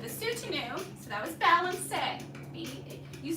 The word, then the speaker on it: balancé: Okay, now with the Soutenu, so that was balancé. You spell it like balance.